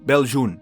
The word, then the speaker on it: Beljune: Now, Beljune, which is the correct pronunciation according to the audio version of the novel.